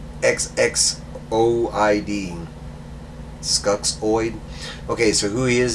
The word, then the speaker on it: Skuxxoid: So his name is, and I'm probably going to mispronounce this, Skulloid? It's right there if it'll zoom in. You can freeze frame it if you want to. It's SKUXXOID. Skuxoid.